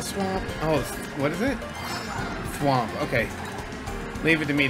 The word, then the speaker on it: Thwomp: Thwomp, okay. Leave it to me to get our name wrong.